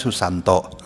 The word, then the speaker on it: Susanta: Jadi ee misalnya Susanta ditulisnya dibacanya Susanto. Kita juga pas ngelihat ini kan Susanta dibacanya Susanto Ustaz katanya. Kenapa? Ini di Jawa gitu. Oh begitu saya bilang. Jadi tulisannya kadang-kadang pakai A tapi dibacanya O gitu.